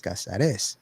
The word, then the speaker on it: Cáceres: off my test because I pronounced my name Cáceres, and the accent is over the A, not over the E, which is the correct way to pronounce it in Spanish is Cáceres with the accent over the E.